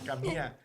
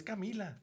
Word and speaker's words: Kamila: They always call her Kama. And she goes, "Papy, I always get my name wrong." And I go, "Cuz I guess there they say Bea and they say Kama." But she goes, "But it's Camila."